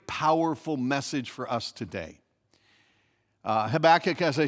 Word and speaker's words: Habakkuk: three here we go habakkuk yeah if you say it correctly it sounds like you just coughed up a furball okay so habakkuk is